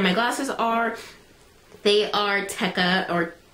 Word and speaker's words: Tekka: what like brand my glasses are they are tekka or Tikka I pronounce them tekka it's te e k a um Tekk eyewear